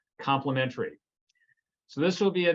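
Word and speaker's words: Complement-ARIE: And it's actually abbreviated Complement, AIRI, and it's pronounced complementary.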